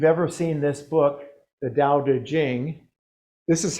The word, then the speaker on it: Dao De Jing: But of course, it's not pronounced either way. So the closest they do now is Dao De Jing. And it's actually Dao De Jing.